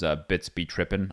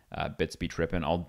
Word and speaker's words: BitsBeTrippin: His name's BitsBeTrippin on Twitter, as it's spelled or said, B-I-T-S-B Trippin, BitsBeTrippin.